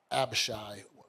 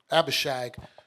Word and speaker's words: Abishag: uh give your brother abashi let me say her name right abishag to adonijah that's why